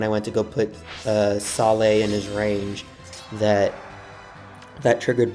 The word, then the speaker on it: Saleh: I keep wanting, I know it's pronounced Saleh, but I keep wanting to say Selah because of the way it's spelled.